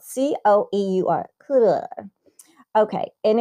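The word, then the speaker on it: Coeur: CDE, And that's spelled C-O-E-U-R. Cooler.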